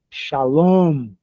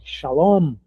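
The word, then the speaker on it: שלום: Shalom. A a sílaba final é a mais forte. Shalom.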